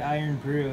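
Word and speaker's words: Irn-Bru: So if you've ever had Iron Brew, it's pretty good, and it's spelled I-R-N-B-R-U.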